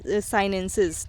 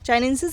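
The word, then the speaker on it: chinensis: name होता है लीची साइनसिस ठीक है चाइंसेस पढ़िए या साइनसिस पढ़िए कुछ भी पढ़ सकते हैं आप लीची चाइंसेस चाइनीसस हमारा प्रोनाउंस एशन सही है तो चाइनीसस ही बोलिए इसको तो बोटेनिकल नेम जो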